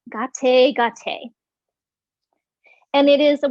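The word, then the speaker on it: गते: But it's pronounced gah-tay, gah-tay, gah-tay.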